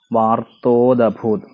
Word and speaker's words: വാർത്തോദഭൂത്: വാർത്തോദഭൂത്, വാർത്ത ഉദഭൂത് എന്നാണ് വാക്ക്. അപ്പോൾ വാർത്തോദഭൂത് എന്നാവരുത്, വാർത്തോദ വാർത്തോദഭൂത്. അപ്പോൾ ദായ്ക്ക് ആയുടെ ഉച്ചാരണം ഉണ്ടാവണം.